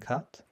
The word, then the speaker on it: kat: They're pronounced kan, pon, and kat.